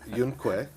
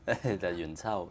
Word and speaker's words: Yuen Qiu: Well, and also his wife is played by Yun Que. -What? -His wife, Landlady. -Yuen Qiu, yeah. -Yuen Qiu. See, my pronunciation is terrible.